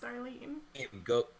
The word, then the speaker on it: Starline: Starline Hodge, pronounced Starlene.